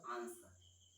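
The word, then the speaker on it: answer: एस के बाद for example आंसर, इस स्थिति में आप देखेंगे तो एस के बाद डब्ल्यू जो है उसको पढ़ते क्या है, आंसर पढ़ते हैं, और स्थिति में डब्ल्यू क्या होता है, साइलेंट।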